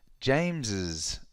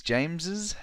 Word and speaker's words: James's: do we pronounce it so in this case s equals is that is James's house okay look at